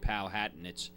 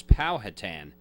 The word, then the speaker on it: Powhatan: And then the final speaker was from, I pronounced it wrong. I said Powhatan. It's Powhatan, Virginia.